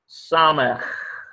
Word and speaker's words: samech: This is an S sound, samech. Samech. It's got a guttural at the end of it.